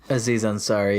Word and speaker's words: Aziz Ansari: Isaiah and zari so you say his name Aziz Ansari yeah oh there you go that was nice